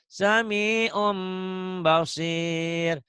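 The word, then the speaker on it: سَمِيعٌ بَصِيرٌ: Karena tanwin bertemu ba. Apa hukumnya? Iklab. Iklab. Ada berapa huruf iklab? Ada 1. Apa? Ba. Ba. Bacanya digimanain tadi sami'un tuh? Harus ada apanya? Harus saja M-nya. M-nya tuh sami'un. Jadi sami'um ya. Tapi ada bindeng sedikit.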